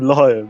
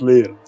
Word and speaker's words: Leo: prix for david drivers stop calling him lion his name is leo oh sorry uh that's my accent like everyone in poland says lion why is you say it like an e like i don't know